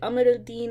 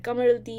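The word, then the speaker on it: Qamar al-Din: I know that some people call it Amaraldin and some people call it Kamarin. I also realized that that pertains to the dialect of Arabic that you speak, which depends on where you're from.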